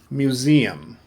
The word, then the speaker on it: museum: answer says visited uh museum i know that's a letter s but it sounds like a z museum remember the letter s